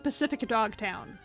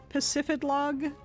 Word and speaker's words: Pacifidlog: trainers to fight, so I have been to Pacifidlog town. It's gonna be dog now. I don't care. I have been there. I have been to Pacific Dog Town.